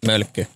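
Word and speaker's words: Mölkky: Is it Mölkki? Mölkki. Oh, is that how you pronounce it?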